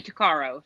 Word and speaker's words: Tuccaro: case is Amber Taro I've heard it pronounced both ways Taro so I really don't know exactly how it's supposed to be said but I say takaro so um Amber Caro